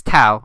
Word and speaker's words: Thao: But yeah, this is Thao. You spell it Thao. It's not Teo.